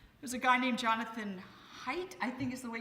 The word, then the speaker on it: Haidt: There's a guy named Jonathan Haidt, I think is the way you say his name, and he's amazing.